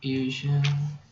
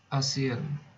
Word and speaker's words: ASEAN: So it's not Asian. ASEAN. So this is ASEAN, Indonesia, Malaysia, Thailand, Myanmar. I don't know if India and Nepal is part of ASEAN, but wait, hold on.